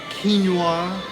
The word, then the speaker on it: quinoa: This is called the Lean Mean Bowl, and it's got salmon, quinoa. How do you pronounce that?